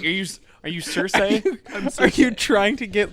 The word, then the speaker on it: Cersei: Can we talk about how upsetting it was when David Benioff was like, "Hey, by the way, it's Cersei, not Cersei.